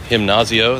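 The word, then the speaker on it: gimnasio: Himnazio. That's how they say it in Mexico.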